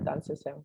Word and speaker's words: Adansesem: So it was just like surprising and also very warming to hear it said as Adansesem, which is the correct way.